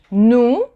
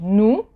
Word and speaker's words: nous: So OU, remember last class, in the last video, the sound OU is ou, and the S at the end of the word, you don't pronounce it. So nous.